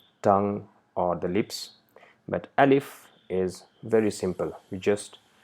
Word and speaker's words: alif: this entire course so it is not a leaf no it's alif so the sound uh and sound e is pronounced quickly alif so this is actually